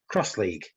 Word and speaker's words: X-League: good okay Okay so cross League written with an X but pronounced cross League it's a limited contact